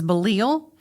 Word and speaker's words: Belial: Belial is how I would pronounce it, but the dictionary says Belial.